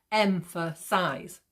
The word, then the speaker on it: emphasize: say it out loud, you can hear like the M and the size are sounded more than the in the middle. So emphasize, emphasize. Okay, M and size are pronounced more.